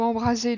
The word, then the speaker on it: embraser: Je ne confonds pas le verbe embraser de notre dictée signifiant enflammer, incendier avec ce S entre deux voyelles qui se prononce ZE et embrasser signifiant étreindre, enlacer avec ces deux S se prononçant SE.